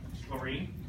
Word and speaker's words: chlorine: I know it's a weird word, chlorine, because it has the CH in it, but it doesn't have that sound, ch. It's cu, chlorine. Okay? Yeah, the H is silent.